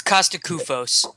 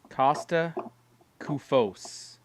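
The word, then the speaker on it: Kosta Koufos: to naps Kung Fu game uh but C Costa kufus Costa kufus how do you say his name it's Costa kufos it's kufos Costa kufos just call him Coco uh terad says kufus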